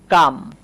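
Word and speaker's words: calm: হ্যাঁ এটাকে আবার অনেকে ক্লাম উচ্চারণ করে না। ক্লাম না। এটা হচ্ছে কাম।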